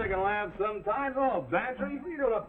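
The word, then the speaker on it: Bantreagh: Well, his is Bantry. Go on, spell it. Bantry, it sounds like pantry. I ain't no gambler, Mac. Well, get this for free. It sounds like pantry, but it's spelled B-A-N-T-R-E-A-G-H.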